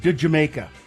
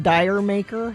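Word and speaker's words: D'yer Mak'er: It says De Jamaica. It's not Dyer Maker? No.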